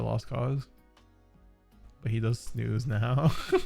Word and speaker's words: snus: what is jasper theory it's not it's not snus it's snooze that's how it's pronounced unless nico has been